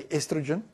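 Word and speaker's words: oestrogen: We don't say the O, we say estrogen. Estrogen with the E. Americans say estrogen.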